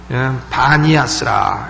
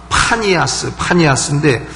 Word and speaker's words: 바니아스: 판신을 사람들이 섬겼고 했는데 그래서 판신을 섬기는 곳이라 해서 파니아스인데 이 사람들이 피 발음이 안 되는 사람들입니다. 왜 경상도 사람들 세븐 발음해보려면 세븐일레븐 해보려면 꼭 쉐븐일레븐 하듯이 발음이 안 되는 거예요. 피가. 그러니까 파니아스 해보라 그러면 바니아스 이래서 그 동네 이름이 바니아스가 된 것이 가이사랴 빌립보